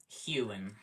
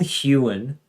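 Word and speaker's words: Huon: It is Hewen. Oh, okay. Well, if it's called Hewen, why is there not an E in it? Why is there an O? It's weird pronunciation stuff.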